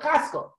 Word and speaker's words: Chaskel: Get together with Chaskel. Chaskel is a very tough name for pronoun. It has a ch in it.